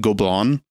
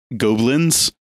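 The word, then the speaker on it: Gobelins: who went to uh I learned how to pronounce it go blonde or go Blinn's as probably a lot of Americans say that like French school that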